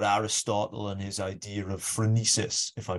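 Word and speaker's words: phronesis: the book about Aristotle and his idea of frenesis if I pronounce that correctly you do thank you I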